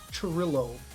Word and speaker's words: Churillo: Churillo. Churillo. Churillo. Yes. English pronunciation, not Spanish. Churillo.